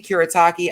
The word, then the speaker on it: Kuretake: in the comments below so i get that pronunciation did you see kurotaki i got it now thank you um this